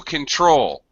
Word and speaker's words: control: things control uh to control uh has a second syllable stress control control so he lost control